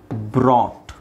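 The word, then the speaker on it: brought: ಬಿ ಓ ಟಿ ಬಾಟ್ ಬಾಟ್ ಹಾಗೆ ಇದು ತೆಗಿಬೇಕು ಬ್ರಾಟ್ ಬ್ರಾಟ್ ಇದು ಯು ಜಿ ಎಚ್ ಯು ಜಿ ಎಚ್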